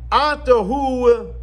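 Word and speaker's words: את: Atahu Hashem levadecha. You are Hashem alone. And then it says as follows. At asisa. Now, at is written without a hey.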